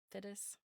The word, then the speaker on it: Fiddes: Her last name is spelled Fiddes. Fides.